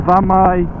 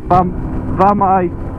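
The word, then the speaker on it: Famau: F-A-M-A-U. So, Vamai. Moyle Vam. Vamai. In English, you'd say it V A M E Y E. That's how you'd say it.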